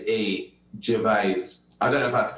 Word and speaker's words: Gervais: say jinbodhi's is okay I've been saying it wrong - I put the S on it so now I gotta remove the S and put a Z Gervaise I got you got